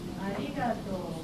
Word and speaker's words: arigato: Arigato, arigato, arigato. Could you say it again? Arigato. Arigato. Paying attention to our sound. It's not our sound, but love. Arigato.